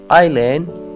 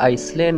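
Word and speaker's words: island: आइलैंड जजीरा, इसको हम आइसलैंड नहीं कह सकते क्योंकि इसमें इस जो है वो साइलेंट है।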